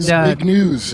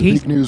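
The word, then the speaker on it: Zbigniew: And Big News, I think is how you pronounce it. It's Big News Brzezinski.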